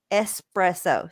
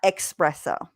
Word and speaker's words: espresso: how do you say it is espresso sorry not expresso oh wow stephanie and